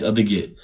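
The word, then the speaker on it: адыгэ: И вот правильно говорить адеге.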